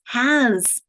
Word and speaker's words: has: Folks, how do you spell z at the middle or the end of a word? Carrie, I see you doing it. It's the S, isn't it? Is, was, has.